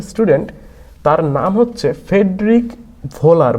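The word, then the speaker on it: Wöhler: প্রায় কিছু সাল পরে ফেডরিক পহুলার এটাকে অনেক সময় ভোলারও বলা হয় আমরা জানি আর কি উচ্চারণটা তোমরা ওই ইউরাজ সিংকে অনেক সময় যুবরাজ সিং বলে ঠিক এখানে ওই কেসটাই হয় যে ভোলারকে ভোলারও বলে ডব এইচ এটা হচ্ছে তার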